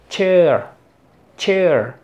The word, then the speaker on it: cheer: a es como Che cheer los ingleses dicen Che Che ellos no pronuncian la r prolongan y hacen e Che Ellos dicen K pero aquí en inglés americano decimos cheer e e Cher care